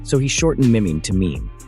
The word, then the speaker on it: meme: So, he shortened mim to meme. It should rhyme with cream, Dawkins wrote, adding that it could also hint at memory or the French word meme, meaning same.